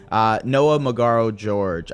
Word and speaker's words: Noah Magaro-George: deeply, editor-in-chief of Alamo, Noah Magaro-George. I hope I pronounced that correctly. That was perfect.